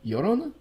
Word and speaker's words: Llorona: Double L is like a Y sound. Llorona?